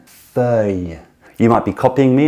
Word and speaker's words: feuille: So the incorrect pronunciation is feuille, feuille, just one incorrect pronunciation. The correct pronunciation is feuille, feuille.